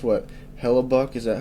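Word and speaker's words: Hellebuyck: Hella Buck. Is that how that's pronounced? Yeah, Hellabuk.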